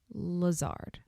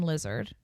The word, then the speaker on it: Lazard: And I was like, maybe I'll do it on Lazard. Because I had pronounced his name Lizard and then learned it was Lazard.